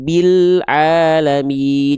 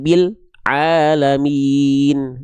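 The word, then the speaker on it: رب العالمين: Contoh Rabbil bil alamin. Bilamin jangan bil alamin.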